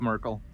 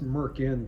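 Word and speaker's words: Myrkul: a Bane ball and Merkel m-y-r-k-u-l m-y-r Angela Merkel Steve Merkel from the 80s it's pronounced Merkin Clint false hair for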